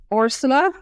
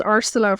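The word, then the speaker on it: Orsola: our main character is orsula so it's like I thought it was arsela for ages in the audio just she was pronouncing it funny but it's it's with the O So arsela Roso and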